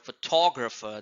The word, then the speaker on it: photographer: here photograph and similarly in the word photographer the stress is on t o photographer and and photographic teacher Japan